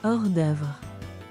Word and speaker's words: hors d'œuvre: I just thought someone would have brought how do you pronounce that? Freaking French, guys, freaking French. Horse Dubré. What? Hors d'œuvre.